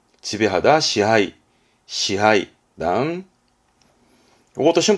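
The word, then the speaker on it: 支配: 발음은 시하이, 지배하다, 시하이, 시하이.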